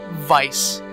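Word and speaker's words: Vyse: She actually said Vice. So, it's officially how you say his name, and that's why you can't change it, or else it would have been weird.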